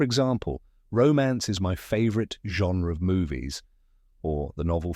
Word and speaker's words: genre: measure followed by anra let's break it down genre Say it With Me Slowly genre great now what does genre mean genre is